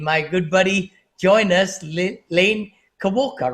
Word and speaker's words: Lane Kawaoka: Lane Kawaoka, right? Did I pronounce it right?